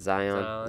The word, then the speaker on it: Zion: Zion.